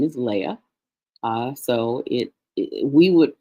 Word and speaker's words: Leah: An Aleph with an Ah sound. And then we've got our H here at the end. Her name is Leah. So we would pronounce it Leah in English.